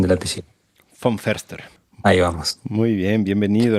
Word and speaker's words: von Foerster: Se suele decir von Foster, mi apellido, que es una adaptación acá argentina, ¿no? Porque el apellido es de origen alemán y en realidad se dice von Förster.